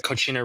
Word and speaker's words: Kochina: I'm on Instagram as Kochina, all one word. It's spelled Kochina, like the Spanish word cochina, but with a K instead of a C.